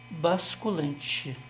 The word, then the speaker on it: basculante: mesmo na linguagem oral mas corrigindo aí é basculante e não tem lh também não não é isso ontem